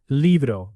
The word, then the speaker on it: libro: A small pronunciation note. Libro.